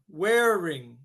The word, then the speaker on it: wearing: It sounds like the word wear plus ring, wearing.